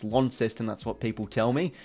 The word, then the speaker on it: Launceston: Stadium uh down on Launceston not law incest in its Launceston that's what people tell